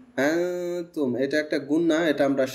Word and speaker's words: أنا: পরে খালি আলিফ আছে, স্বাভাবিকভাবে এটা আমরা জানি মাদ হবে, কিন্তু এই শব্দটা মাদ হবে না, এটা আমরা আনা কানতে মানা জি আলিফ দিয়ে যে আনা শব্দটা লেখা হয়, এই যে আলিফ শব্দটা ব্যবহার করে ওই আনাটা টান হয় না।